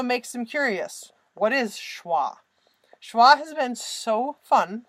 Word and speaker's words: schwa: it go Lisa okay it is schwa which is a German